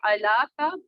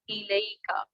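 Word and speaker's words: إليك: जैसे it's not going to be ala ka, rather it's going to be ilayka.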